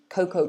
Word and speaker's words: cocoa: you make by mixing cocoa powder like chocolate powder with milk and sugar etc so it's a hot like a hot chocolate i guess yeah so we pronounce it coco some of you are